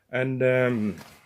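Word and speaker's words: æ: And this one here is called a, and you will find it in English here in bad, or sacrifice, or shatter, And this one here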